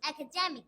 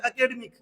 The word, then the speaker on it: academic: हम क्या बोलते हैं, लगभग इंडिया में बोला जाता है एकेडमिक, यही सुना होगा आपने, और उसका रियल प्रोनाउंसिएशन फिर करके दिखाओ बेटा आपको। Academic.